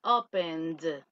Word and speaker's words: opened: Pasado, I opened. D, es como una D. Si usted dice, I opened the door, ah, yo abrí la puerta. Es como una pronunciación con la D de dedo.